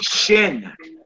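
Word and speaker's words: שין: The next symbol is called a shin. Like your shin bone.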